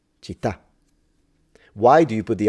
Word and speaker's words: città: But sometimes she will say città, and that, from my perspective, as a stress at the beginning. It's città, città.